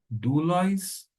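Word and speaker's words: δοῦλος: Vamos agora fazer a pronúncia, palavra por palavra, do versículo de número 1. Paulus, doulos, Iesu, Christou, kletóis, apóstolos, aforismenos, eis, evangelion, teu.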